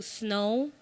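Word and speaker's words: Snoh: like I didn't know her name was snow snow algra that's her name no yes and it's spelled s n o h Cleo soul I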